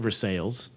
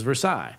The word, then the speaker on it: Versailles: 300 years ago, it wasn't Versailles, it was Versailles. Now it's Versailles because it's no longer French, it's now American, and we don't want to be identified with the French.